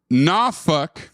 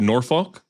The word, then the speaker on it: Norfolk: It's pronounced... Norfolk, not Norfolk. I was off. It is Norfolk. Or fuck yourself, nobody cares. Or Norfolk, because he wrote NAW-FUK.